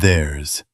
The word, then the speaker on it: theirs: They, their, and theirs. It's their responsibility. Noun, their. The responsibility is theirs. Alone, theirs. Also a Z sound at the end.